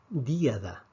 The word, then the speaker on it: díada: la palabra díada díada vemos que la fuerza en este ejemplo cae sobre la díada entonces en este caso puesto que la fuerza cae en la vocal cerrada automáticamente tenemos que escribir este acento esto es lo que